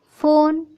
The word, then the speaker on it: phone: PHONE फोन। अब फोन का सुनते ही आप समझ में आएगा कि ये है फ़ोन की स्पेलिंग।